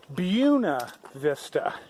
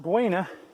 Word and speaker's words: Buena Vista: that we went into Buena Vista I was mispronouncing it it's not Buena the locals call it buena vista went in there and